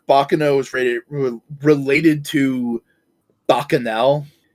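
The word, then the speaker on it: Bacchanal: Do you think Bakano is rated related to Bakanel? Bakanel? What's Bakanel? What in the goddamn is that? Bakanel. Uh, Bakanol. Bakanol, I think is a more correct way to pronounce it, was an ancient Roman celebration of just chaos.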